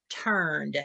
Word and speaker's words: turned: hand sound and it's you're just going to add a d sound so it's going to be pronounced turned um okay the second